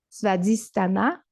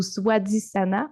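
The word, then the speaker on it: स्वाधिष्ठान: centre énergétique qu'on appelle Svadhisthana ou Swadhisthana. En fait, c'est un SW, mais j'ai entendu les deux prononciations.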